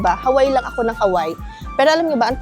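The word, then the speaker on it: Hawaiʻi: sa parang podcast siya na parang oh bakit Hawaii ' ba dapat Hawaii ganyan pero tama yung lalaki Hawaii.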